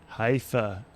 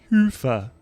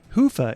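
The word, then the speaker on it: Hyvä: Commerce is sponsored by hia or as the Europeans say Hua or the right way to say it hoofa is rapidly becoming the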